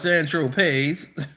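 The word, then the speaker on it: Saint-Tropez: So when you bought eight balls of Coke on San Tropes, pronounced San Tropes, you didn't tell Mr.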